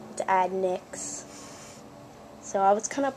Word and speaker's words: Adnayx: yonder it's adnice and i pronounce the a like an i add next so it's not adnax to add nyx so i was kind